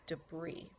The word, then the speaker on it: debris: is the next word it does look like debris but you can remember that if you're trying to spell it it will make it easy for you but when you pronounce it it is debris the hurricane left massive